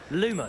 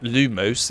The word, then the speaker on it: Lumos: guy so he's annoying lumos all the time it's not lumos it's lumos damn it Luke Moss okay